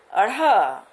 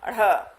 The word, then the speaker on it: ढ़: इनका उच्चारण करते हैं अड़ और इसको कहते हैं अढ़। अड़ और अढ़।